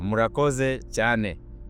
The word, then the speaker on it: murakoze cyane: Ya murakoze cyane.